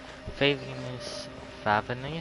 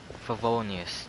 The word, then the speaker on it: Favonius: Favinus? Blah, blah, I can't pronounce that word. This whole entire night orders. Favonius, there we go.